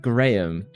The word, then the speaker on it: graham: Cheese is a crumb crust made from graham crackers. I hate that this is clearly pronounced Graham, but the Americans have ruined it and now it's graham crackers.